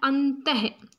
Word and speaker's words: अंतः: और त के पीछे हम इसका उच्चारण क्या करते हैं अंतः तो ये ह का हम उच्चारण करते हैं प्रातः ठीक है तो